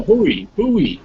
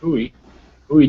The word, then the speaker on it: Bowie: No, Bowie. Yes, I get criticized by those Texans if I don't pronounce it right. Bowie, Texas.